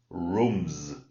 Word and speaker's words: rooms: All right, so you've got to concentrate on the sound at the end of that word. Okay, so if I put it singular, it's room. Okay, but if I put s, rooms. It's a sound z, just like the bees do.